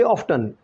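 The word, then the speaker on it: often: दे ऑफ्टन, मैं बता रहा था कि ब्रिटिश इंग्लिश में इस वर्ड को हम ऑफन नहीं कहते बल्कि ऑफ्टन प्रोनाउंस करते हैं।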